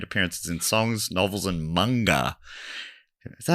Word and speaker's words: manga: Additionally, she's made appearances in songs, novels, and manga. Is that how you say it? Manga or manga? It's manga.